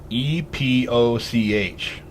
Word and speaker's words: epoch: E-P-O-C-H. Epoch, or epoch.